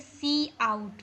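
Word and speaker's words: cout: So whenever we want to print something on our screen, then I am going to use this word C out. Pronunciate as C and out.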